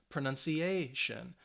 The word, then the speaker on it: pronunciation: 4, 5, 6, 7, that stress is going to be on the second to last one. So ambition, position, decision, collision. All right, communication, pronunciation.